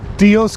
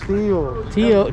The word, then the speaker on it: Tío: Tios Castillos? Tío. Tio is uncle. Tio. Tio I've heard that. Cosquillas. Cosquillas? Tio Cosquillas! Yeah, you said it right.